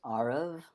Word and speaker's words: Aarav: It's pronounced Aarav, like the Aarav. letter R, emphasis on the first syllable, and the second syllable rhymes with love. So Aarav. Aarav.